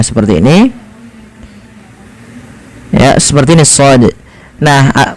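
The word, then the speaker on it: ص: Kalau hurufnya di sini kan huruf shad, nah seperti ini ya, seperti ini shad. Nah, cara membacanya adalah kita memanjangkan shadnya ini sepanjang so-nya sepanjang 6 harokat, karena di sini ada namanya, kita namakan dengan mad lazim harfi mukhaffaf ya.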